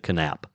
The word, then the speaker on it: Knap: KN A P and he pronounced the K. He pronounced it canap. It's either canap or nap, but uh hey Jinger, you can always uh you can always send me corrections.